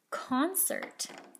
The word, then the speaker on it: concert: c's in this word the first c is hard the second c is soft i know this because e is in my cc cat picture o is not con ert concert has two c's one of each type here's another example of